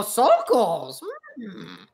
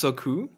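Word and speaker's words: Sokół: Oh, Sokols. Actually, they're pronounced Soku.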